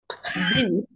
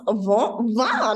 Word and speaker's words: vin: So there's like one class that we spent an hour pronouncing the word vent. Vin. She's like, not van. I'm like, oh my God, I'm going to die. Literally, she's like, don't, it's not a sad face.